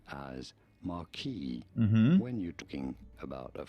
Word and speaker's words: marquis: In French, it is said as marquis. That is Marquis. why you will sometimes hear it said as marquis when you're talking about a French marquis.